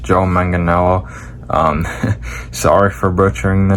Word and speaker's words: Joe Manganiello: The actor Joe Manganiello. Hey guys, it's Editing Austin here. So apparently it's pronounced Joe Manganiello.